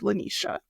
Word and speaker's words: LeNesha: my lovely lovely guest and she helped me pronounce it so it's Le Nisha so we're going to get it right I'm